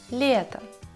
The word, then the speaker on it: лето: Еще нужно внимательно относиться к букве Е. Потому что когда она находится под ударением, она звучит как в алфавите. Е. Лето.